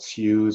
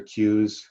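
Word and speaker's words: CEWS: emergency wage subsidy so we call that shoes or queues to pronounce the acronym either way whatever way you prefer basically introduced by Finance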